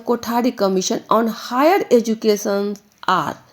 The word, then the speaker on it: कोठारी: भी बताया गया है कोठारी जब बोलते हैं तो इसका एक अक्षर आता है ठ उच्चारण में ठ ठ से हमने सीखा